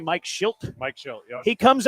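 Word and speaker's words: Shildt: Mike Schult.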